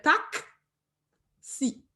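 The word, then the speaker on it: taksi: Parce que si vous pensez à taxi en français, en créole, on dit taxi, tout, on écrit T-A-K-S. Parce qu'on fait tac, si. Tac, si. Donc, toujours prendre nous, garder chaque syllabe.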